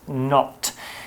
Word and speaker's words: knot: shoes exactly not is a word with a silent letter it's spelled k-n-o-t but it's pronounced not it's a noun and